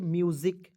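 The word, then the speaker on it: musically: double एलवाई है तो double alloy के पहले ए जो है इसको हम लोग साइलेंट कर देते हैं काट दीजिए हटा दीजिए क्लियर तो यहां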